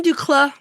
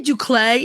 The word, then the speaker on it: d'Uccle: The Belgian du Clay, we say du Clay in America, but I think it is more correctly pronounced du Clay.